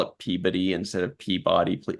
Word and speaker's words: Peabody: Although there's, like I mentioned before, there's a city in Massachusetts that's spelled the same way as Peabody, but they pronounce it Peabody. Yeah. Which is weird. And I'm wondering if it has to do with the accent in that region.